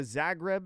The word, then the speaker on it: Zagreb: I think the Zagreb is how you pronounce it.